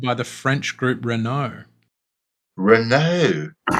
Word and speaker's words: Renault: the french group renault renault yeah is that how you say it renault very hot it's like target what were you saying giraffe it's reno that's like when we